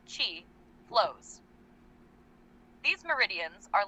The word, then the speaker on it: qi: It's believed that there's an intricate network of invisible channels running throughout the body through which life energy, or qi, pronounced chi, flows.